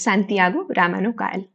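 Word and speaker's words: Santiago Ramón y Cajal: It is pronounced as Santiago Ramano Cajal.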